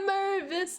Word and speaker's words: Mervis: Big fan of Matt Mervis, big fan. Mostly because it rhymes with nervous.